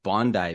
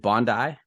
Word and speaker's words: Bondi: And I noticed you pronounced it Bondi Beach. I pronounced it Bondi Beach. Is it Bondi? It's Bondi if you're Australian and Bondi if you're American.